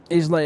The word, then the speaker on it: Islay: Islay is pronounced Isla.